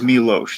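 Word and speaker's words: Miloš: It is Milos. It's like Milos Forman is that. It's so Milos? I know. There's like the SH sound. Yes, there's like an invisible H or something.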